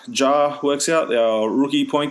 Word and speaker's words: Ja: Like it's not pronounced Ya? No, Ja.